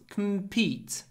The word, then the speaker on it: compete: big business we can't compete don't say com compete because the stress is on E compete we can't compete and